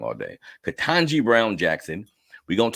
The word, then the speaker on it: Ketanji: Ketanji Brown Jackson.